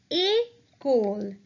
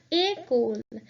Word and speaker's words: école: Since the word école has an E which has an accent, we will pronounce this word in a different way. So that would be école. That E with the accent will be pronounced as A. So we will pronounce it as école.